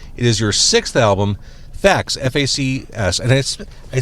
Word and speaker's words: FACS: It is your sixth album, Fax FACS.